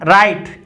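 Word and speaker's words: right: Sound आती है, लेकिन जीएच साइलेंट भी रहता है, अर्थात फै साउंड नहीं भी आती। जैसे दो एग्जांपल हमने लिखे हैं राइट और माइट। अब देखिए इसमें माइट इतना ही बोला जा रहा है, राइट इतना ही बोला जा रहा है, इसमें भी जीएच साइलेंट है, इसमें भी जीएच साइलेंट है।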